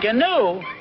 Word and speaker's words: gnu: Gnu? It's G-N-U, gnu. The G is silent.